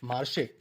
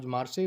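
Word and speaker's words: Marseille: तो वहां पर एक मार्श मार्श इनकी स्पेलिंग को मत जाना इसको इसका जो प्रोनंसिएशन है वो उसको मार्से ही बोलते हैं ये फ्रांस में है तो फ मार्से तो एक्चुअली वहां पे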